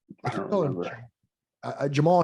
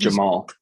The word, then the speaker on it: Jamahal: I think that Jamahal Hill, Jamahal Hill, I think Jamal. I think, yeah, but it's spelled like Jamahal.